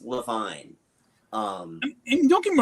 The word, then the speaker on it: Iovine: um just introductions by uh who is James Iovine? I would have been perfectly happy with that. Yeah. It's actually Levine. I actually looked him up. Oh, wow. It is actually pronounced Levine.